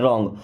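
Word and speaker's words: wrong: विद द रॉन्ग person, विथ means होता है के साथ, द रॉन्ग, देखिए यहाँ पे डब्ल्यू साइलेंट है, रॉन्ग, रॉन्ग मीन्स होता है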